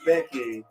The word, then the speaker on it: Gbeke: okay and what's your uh youtube channel it's becky thank you right again for all you pronunciators out there who don't know how to